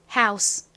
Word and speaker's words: house: OU는 여기서 아우 소리로 쓰여서 H와 연결되면 how가 되고요. 그리고 끝에 S 부분은 S 그리고 끝에 떨거지 E까지 써주시면 완성입니다. 발음 따라해 볼게요. house, house.